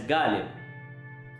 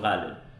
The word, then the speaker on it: Ghalib: And she pronounced the word Ghalib, the famous poet, as Ghalib, which is not the Urdu pronunciation. It's a Hindi pronunciation of Ghalib.